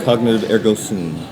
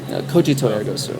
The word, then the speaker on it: Cogito ergo sum: Cognitive ergo sum. Cogito ergo sum.